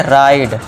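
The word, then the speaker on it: ride: तो यहाँ पे ई को क्या कर देंगे साइलेंट। अब देखिए फाइन, इसे क्या पढ़ेंगे फाइन, और इसे क्या पढ़ेंगे राइड, फाइन राइड।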